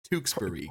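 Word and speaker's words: Tewksbury: say this is called I know the last part would be bur but um uh tuxbury tuxbury perfect you are doing excellent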